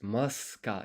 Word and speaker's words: ますか: listen to the pronunciation, I don't think you hear the u. いくつありますかいくつありますいくつありますか Yeah, it's muska.